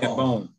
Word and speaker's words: Kambon: Kambon, I'm sorry, pronounce my last name. Kambon. Kambon.